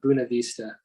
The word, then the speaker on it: Buena Vista: it's interesting i'm in buena vista colorado but apparently a lot of people up here call it buna vista i don't quite understand